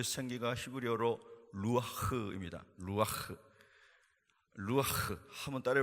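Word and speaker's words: רוח: b 를 풀어 넣으신 2 그 생기가 히브리어로 루아흐 의미다 누가 루한 한번 따라해 볼까요 룩 아흑 여러분과 제가 어떻게 발음 하더라도 그 밥은 다 틀린 것으로 이해할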